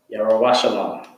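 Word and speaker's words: ירושלים: Yerushalayim, Jerusalem. All right. Try to hurry up. Ya, Wa, Ra, Wa, Sha, La, Ma. Ya, Ra, Wa, Shalom. Yerushalayim.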